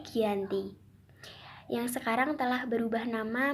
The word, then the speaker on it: Giyanti: tanggal 13 Februari 1755 untuk nama Gianni sendiri diambil dari lokasi penandatanganan perjanjian ini yaitu di Dukuh Janti di dalam pelafalan Belanda yaitu Giyanti yang sekarang telah berubah